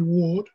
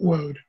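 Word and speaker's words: Waud: drawing by the way i'll be talking about alfred ward and not alfred woad as he sometimes said his family i i on the best authority from gary edelman um his family used the pronunciation ward not word um a drawing like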